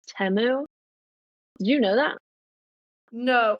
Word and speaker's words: Temu: and oh wow yeah okay so it's temu yeah temu no i t m I always thought it was teu yeah I didn't know